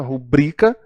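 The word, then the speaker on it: rubrica: se ela fosse proparoxítonas estaria acentuada a a pronúncia é recorde paroxítona nada de rubrika a qualquer pública seria proparoxítona é paroxítona rubrika e é ruim a palavra oxítona e as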